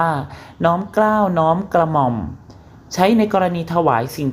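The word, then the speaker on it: น้อมเกล้าฯ: พระ เครื่อง เป็น ต้น สำหรับ น้อมเกล้า ไปยาล น้อย เรา จะ อ่าน ว่า น้อม เกล้า น้อม กระหม่อม ใช้ ใน กรณี ถวาย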